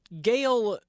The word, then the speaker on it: Gael: of it to be honest with you so Gail Gail is spelled g a l but you also got